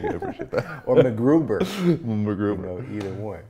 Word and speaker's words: MacGruber: MacGruber! You gotta say it like that.